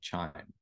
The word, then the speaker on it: QIIME: a computational tool called chime so spelled Qi i m but pronounced chime like a wind chime uh this is a